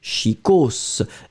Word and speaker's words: chicos: est chic ou élégant vous pouvez utiliser chicos et on prononce le S final s'il vous plaît écrivez-moi